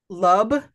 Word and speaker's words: lub: Lub with a B. Oh, I thought he said love. Okay. No, nope. It's lub because nothing rhymes with schlub.